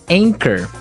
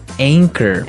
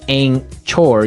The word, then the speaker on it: anchor: Anchor. Anchor. Now it's spelled a n c h o r. Right. But you don't pronounce the c h as you normally would, right?